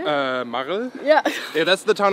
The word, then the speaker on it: Marl: Marl?